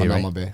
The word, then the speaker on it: Hanauma Bay: Hanauma Bay.